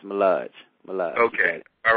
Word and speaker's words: Mullage: am I am am I saying it correctly malage yes yeah yeah yeah it's it's malage malage okay all right we got malage in